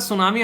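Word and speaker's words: tsunami: मिलती है कई बार सुनामी आप लोगों को देखने को मिलती है जिसको तो सुनामी टी साइलेंट होता है समान भी होता है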